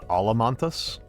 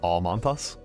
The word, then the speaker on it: Almantas: Um that is wrong which is people pronouncing my name uh Alamantas. That is that is incorrect. My name is not Alamantas. It is Alanthas.